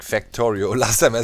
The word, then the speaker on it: Factorio: Pretty much it's like Factorio. Last time I said Factorio. In German you would pronounce it like that. Factorio. A is A.